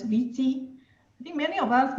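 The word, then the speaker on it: 危机: So let's start with this Chinese word, and this is actually crisis, pronounced as Viti.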